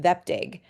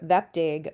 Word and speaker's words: Vepdig: So far, this does not yet have a brand name, but it's being called Vepdig. That's, I think, how they pronounced it at the meeting.